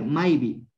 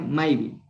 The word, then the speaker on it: Maipi: Maipi es en dónde y se pronuncia Maibi.